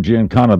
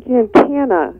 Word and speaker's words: Giancana: Well, actually, Giancana is I think phonetically the way it should be pronounced, but being out of Chicago, I have that hard kind of A sound, so it's Giancana.